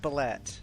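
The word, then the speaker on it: bulette: Hey, one of the bulets got a nat 20. Please stop saying it like that. What? It's pronounced Ballet.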